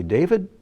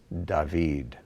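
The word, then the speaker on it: דוד: We say David, but in Hebrew, it's David.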